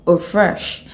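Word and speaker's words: eau fraîche: first type of perfume that we have is pronounced or fresh and this actually a french word it simply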